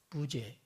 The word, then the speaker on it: 무죄: 무죄. 무죄 이 발음이 정확하게 돼야 되는데 조이가 아니에요. 죄는 조이가 아니고 저입니다. 저이.